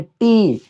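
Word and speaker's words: tea: तो देखिए ई के बाद ए है, इसीलिए यहाँ पे क्या रहता है? साइलेंट रहता है। मतलब सिर्फ हम इसको टी बोलते हैं।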